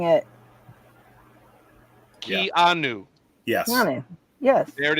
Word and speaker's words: Keanu: No, it's new. N-O-O, new. Oh, like I've been pronouncing it. Yeah. Keanu.